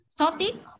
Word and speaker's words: shortage: Shortage hết rồi, thả trọng âm sai để thả thành dấu sắc nữa rồi. Mà như thế này phải đọc là shortage, shortage và cottage, cottage.